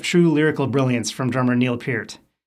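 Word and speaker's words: Neil Peart: lyrical brilliance from drummer Neil Pier. Yes, that's the correct pronunciation, and I care enough to get it right.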